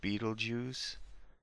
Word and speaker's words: Betelgeuse: And it is pronounced Betelgeuse.